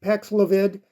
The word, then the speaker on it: Paxlovid: Well, it's pronounced Paxlovid.